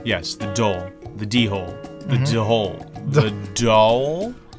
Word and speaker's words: dhole: yes the do the dhole the do hole the do hole so yeah you got to put some aspiration on that D because it's spelled d h o l e just the word hole